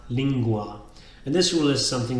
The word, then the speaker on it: lingua: So, for example, language is not lingua, but lingua.